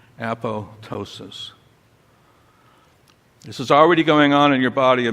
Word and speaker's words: apoptosis: word at the top usually mispronounced the second P is silent appllo ptosis this is already going